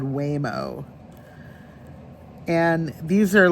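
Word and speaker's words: Waymo: But the other thing I've been seeing a lot of, we have a driverless thing over here called Whimo.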